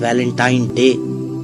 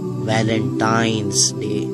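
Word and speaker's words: Valentine's Day: है अब आप इस वैलेंटाइन डे के नाम पर गौर करें इसे जो आम कहा जाता है यह वैलेंटाइन डे है लेकिन हकीकत में जो इसका प्रोनाउंस एशन है वह है वैलेंटाइंस डे ये एक वैलेंटाइन वाला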